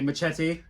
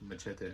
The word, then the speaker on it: Machete: Machete. So I was happy to get that. It's just dumb fun. And he doesn't say it right. Machete. He says machete. It's machete. I'm Hispanic. I'm sorry.